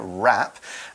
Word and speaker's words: wrap: it in place so this verb wrap is got a W it's a silent W but it's there wrap and when you wrap